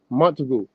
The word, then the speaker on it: Montagu: Montagu.